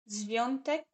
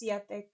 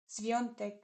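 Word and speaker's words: Świątek: Isn't that tennis player Zviontek? I don't know what her. I actually never learned how to pronounce her name. I always said it's Swiatek. Zviontek. Interesting.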